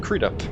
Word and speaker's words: Crudup: your last name is crudup how would you pronounce it crude up or crud up crude up i don't know what